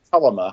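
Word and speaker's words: Thelema: the books of uh talima or thalima or telema depending upon how you pronounce it and i ask you natalie to tell me how to pronounce it but it's telema if i'm not mistaken yeah that's how i say it yeah yeah and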